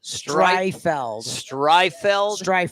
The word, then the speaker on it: Streitfeld: Streifeld. There's a T. I don't think they say it, or I've been saying it wrong for a lot of years.